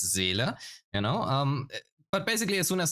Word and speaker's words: Seele: it's basically the Seele problem, or as a German, I can pronounce it correctly. It's Seele, But basically, as soon as another character comes out, your DPS will be replaced.